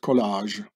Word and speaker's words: collage: to speak a color in France it's called collage in English it's been pronounced College like in America the college you know that that probably glue